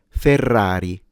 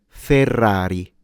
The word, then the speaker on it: Ferrari: a surname or a family name, and it's pronounced Ferrari. Ferrari. Ferrari. Ferrari.